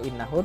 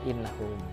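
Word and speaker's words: إِنَّهُ: Nah, jadi pada bacanya innahu terbaca innahum.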